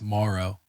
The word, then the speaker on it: Moreau: How do you say it? Moreau or Moreau? Yeah. Foster Moreau. Moreau. I looked up my old video from last year saying like it's Morrow.